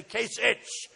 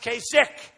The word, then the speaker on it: Kasich: name Kasich it's I every time I see it I say kich but is pronounced kasik so I'm doing a